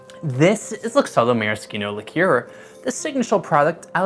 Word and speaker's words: maraschino: This is Luxardo Maraschino liqueur, the signature product out of Luxardo, besides, of course, their cherries. And yes, to answer the question already, it's pronounced maraschino, not maraschino, because it's Italian.